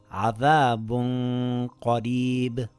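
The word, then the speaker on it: عَذَابٌ قَرِيبٌ: It reads as عذابٌ قريب. I slightly hid the noon and kept the nasal sound on the makhraj of the next letter. I lengthened it for two counts with a heavy nasal sound.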